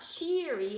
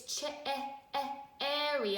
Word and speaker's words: cherry: what's town doesn't make this is not cheery it's cherry I hear a short e sound there how many consonants do I see well I see - I see two R's together so cherry it sounds just like very but the spamming is